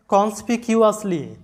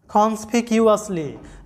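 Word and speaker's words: conspicuously: আমাদের উচ্চারণটা আসতেছে কি যে একত্রে মিলিয়ে দিলে উচ্চারণটা তাহলে হয় যে কনস্পিকিউসলি কনস্পিকিউসলি যেটার বাংলা অর্থটা হচ্ছে লক্ষণীয় ভাবে এরপরের শব্দ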